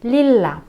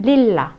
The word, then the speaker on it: lilla: Дальше lilla, фиолетовый, две буковки L, значит мы опять удваиваем, lilla, lilla.